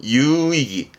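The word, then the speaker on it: 有意義: 요게 어디까지 가게 되냐면 유의입니다. 발음은 유이기.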